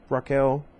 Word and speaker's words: Rachel: mountainside Gardens rehabilitation center Rachel only should pronounce her name Raquel I met one person she said her name like that anyway I used to